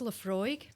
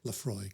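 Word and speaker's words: Laphroaig: And what's the correct pronunciation? Okay, so this is Leafroy. Leafroy.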